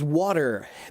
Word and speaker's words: water: Why do Americans pronounce water as water? Because when American English words get faster, the hard T becomes a soft D.